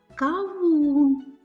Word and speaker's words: кавун: А ви мені будете відповідати: кавун. Відповідати потрібно повільно. Отож, ми чуємо, що у слові каву наголошений склад другий.